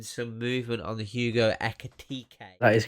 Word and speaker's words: Ekitike: that there's been some movement on the hugo echo tk that is correct it's pronounced echo tk not echo titty as uh lee would say that is not